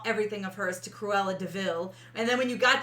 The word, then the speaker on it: DeVille: kind of jokes around says it's spelled like devil but it's deville um horse and jasper